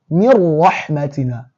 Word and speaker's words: من رحمتنا: So it would be like you are totally eliminating this noon. Pronounce with me. You now do mim kasra, mi, ra shadda fatha, ra, mir rahmatina, وجعلنا لهم لسان صدق عليا ووهبنا لهم من رحمتنا.